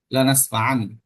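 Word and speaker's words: لنسفعا: এইযে এটা এই মূল শব্দটা এখানে দেওয়া আছে লানাসফান এখানে এটা যদিও এভাবে লেখা হইছে যে দেখেন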